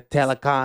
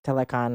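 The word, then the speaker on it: Talokan: fighting uh yeah the telecon I don't I honestly don't remember I I've just been calling them atlanteans just for simplicity's sake uh if they're like telecon I'm pretty sure is the pronunciation and um this was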